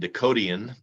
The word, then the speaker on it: Dakotian: And also the Yankton Press and Dakotian, pronounced that way.